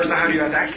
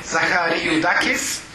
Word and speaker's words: Zaharakis: by the presentation of Dr zarak is okay pronunciation didn't go that well zaharakis apologies for that the director of